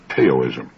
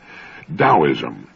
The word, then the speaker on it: Taoism: that's spelled t AO i m and often mispronounced taoism Daoism the Dao signifies the energy of the universe